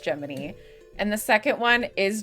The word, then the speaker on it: Gemini: Geminy. His name is spelled Gemini, but it's pronounced Geminy.